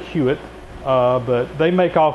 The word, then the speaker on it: Huot: this cabinet right here made by huitt hot t u they pronounce that huitt uh but they make